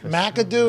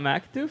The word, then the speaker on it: McAdoo: of the Ben McAdoo McAdoo is he running no but is it I think you gave it four syllables I think it's only three it's not macadoo Jackson it's not huge